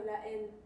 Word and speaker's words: La Haine: Oh, La Haine.